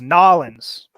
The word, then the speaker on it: New Orleans: the end of the tour actually the correct pronunciation is nollens yes no that is the correct pronunciation it